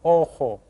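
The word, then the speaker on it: ojo: called Elo Elo and remember the J sounds like an H Oho okay go ahead and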